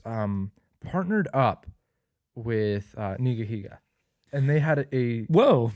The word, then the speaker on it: nigahiga: that's his name right no dude it's nigahiga nigahiga yeah i'm gonna bleep that out that nigahiga oh no i've been pronouncing that wrong my whole life anyways it's nigahiga and